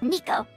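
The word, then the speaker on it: Neko: So, this one is gonna be named Nico. N-E-K-O is how I spell it.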